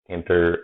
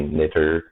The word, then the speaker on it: tkinter: Most people just read tkinter. I've heard some people just say knitter. Different ways to pronounce it.